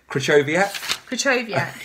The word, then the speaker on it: Krychowiak: Krychowiak, yeah. Right, people actually. Saying, well done, Sam, you've got the pronunciation spot on.